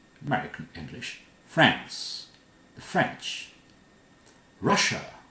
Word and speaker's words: Russia: Russia. Not Russia. Russia. Here's Asia. This is Russia.